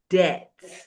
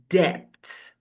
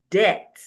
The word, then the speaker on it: debt: When the B comes before the T, the B remains silent.